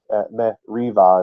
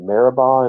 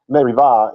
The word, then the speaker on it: Meribah: Meriva is actually how you say that. And they call it, how do you say that? Meribah in English? Meribah. I have trouble going from one language to the other there, but it's Merivah in Hebrew.